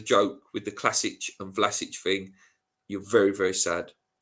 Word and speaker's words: Vlasic: I know that it is Vlasic.